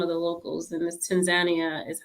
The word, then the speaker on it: Tanzania: You just came back from it, and pronounce the name for me correctly. So we say Tanzania over here, but I got corrected several times over there by some of the locals, and this Tanzania is how they pronounce it over there.